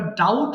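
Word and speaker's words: doubt: এরপর ডাউট সন্দেহ করা। ডাউট, ডাউটেড, ডাউটেড। এখানে প্রশ্ন হলো বি তো আসলো, বি এর উচ্চারণ হবে না।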